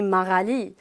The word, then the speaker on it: Maralee: When French people pronounce my name, they say it in a French accent, naturally. So they call me Maralee.